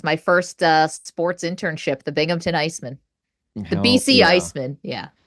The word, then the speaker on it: Binghamton: Yeah, that was my first sports internship, the Binghamton Iceman, the BC Iceman. Yeah. Now I went down a wormhole of it's Binghamton? Binghamton? So people pronounce it like it has a P in it, like Binghamton, like it's the Lost Hamptons.